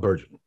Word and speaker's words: Bergen: Please help me welcome world-famous voice actor Bob Bergen.